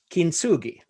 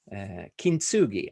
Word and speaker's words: kintsugi: the japanese culture called kinsugi maybe it's pronounced very different but kintsugi and it's it's this